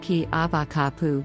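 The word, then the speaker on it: Keawakapu: out with a local kiawa kapoor pronounced ki abakapu beach is one of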